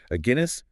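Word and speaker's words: Aguinis: A Guinness, like the Or beer. Guinness like the beer. Okay, got it. A Guinness, Nestler, Quigley, and Tedeschi, published in the Social Behavior and Personality Journal.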